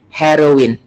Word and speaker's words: heroine: Yang ini dibaca E, yang ini dibaca E, dan itu dibaca in biasa. Jadi membacanya menjadi heroin, heroin, heroin.